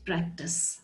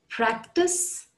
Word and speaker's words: practise: two words practice and practice both pronounced exactly the same way practice practice both have a sur sound practice and practice the